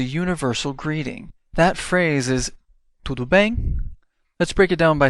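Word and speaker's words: tudo bem: used as a universal greeting that phrase is to bang let's break it down by syllable to bang now let's hear it again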